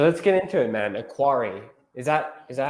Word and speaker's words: Aquari: Aquari, is that is that how you pronounce it by the way? Aquari. Yeah. Aquari.